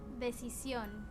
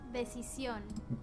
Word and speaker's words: decisión: Decisión, decisión, Decisión. Decisión. La decisión. Decisión. Decisión. Interesting. The lisp is on the CI, the middle section.